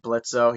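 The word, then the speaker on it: Blitzø: And then they also got Brandon to be the guy who voiced Blitzo. He actually voiced as Killjoy, and I'm just like, oh, Remember, it's Blitz. The O that's is silent.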